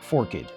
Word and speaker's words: forked: The word is always pronounced forkid in two syllables.